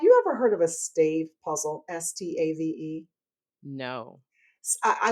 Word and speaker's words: Stave: Stave. It's named after the founders, Steve and Dave, Stave.